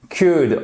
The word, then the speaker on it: could: Could, on ne prononce pas le L non plus.